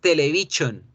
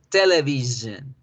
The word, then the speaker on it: television: Casi siempre cuando la palabra tiene la sílaba sual, la sílaba sure, la sílaba sion, es ahí donde nosotros vamos a pronunciar este sonido, que es una Z más gruesa. Z, z, z. Entonces ya no es television. Ya no van a decir nunca más television. Van a decir television, television, zen, television, zen.